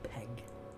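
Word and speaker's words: Pegg: from their first series Peg Peg I keep calling him Pang don't I we've got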